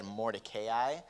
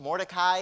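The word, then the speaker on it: Mordecai: Now, if you were just mildly triggered by the way I said Morayi, I have recently discovered accidentally and horrifyingly that that is the proper pronunciation of his name. Morai is kind of like the shorthand.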